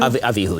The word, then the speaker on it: Abihu: How do you pronounce that? Does anyone know? Abihu. Abihu? Abihu, yeah.